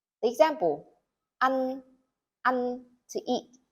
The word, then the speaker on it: ăn: The example, ăn, to eat. To pronounce this word, you say the A very short and the N longer. Ăn.